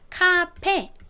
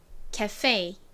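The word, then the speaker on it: café: 이거를 아까 본 것처럼 카페 이렇게 발음을 하지만 진짜 영어식 발음은요 겟세이 겟세이 이렇게 발음이납니다 써보자면 거의 겟세이 좀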